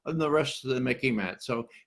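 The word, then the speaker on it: MICIMATT: Instead of the MIC, instead of the military-industrial complex, we have what I call the Mickey Mat, okay? You can remember it. It sort of rhymes with Mickey Mouse, but it's much more serious, okay?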